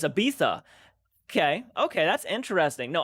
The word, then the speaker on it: Ibiza: you that's awesome uh search up images of ibiza and spain and we are pronounced but it's uh ibiza okay it's ibiza okay okay that's interesting no i've again i've